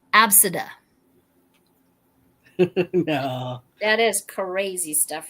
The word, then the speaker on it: Abcde: had a student who the name was spelled ABCDE and pronounced Absida.